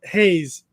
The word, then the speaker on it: Haas: Also, it's pronounced Haze. Oh, okay. It's fine. Haze, like plural hay.